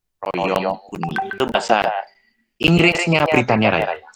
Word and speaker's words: Royaume-Uni: Nah, AU dibacanya U. Royaume-Uni.